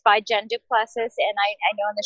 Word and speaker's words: Du Plessis: Technically, it's pronounced Du Plessis. It's very French, and it's my husband's name. And it's mine too, though, right? 36 years after marriage. It's mine. But Du Plessis, and that's how you